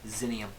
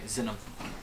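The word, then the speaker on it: Xinum: one gold piece 100 gold piece equals one xenium or sorry xenom xenom is spelled X or I'll let I'll wait to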